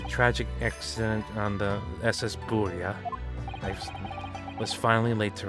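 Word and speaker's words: Burya: And so, at long last, for three weeks, the mystery surrounding the tragic accident on the SS Buria, I was finally laid to rest. I pronounced it right this time.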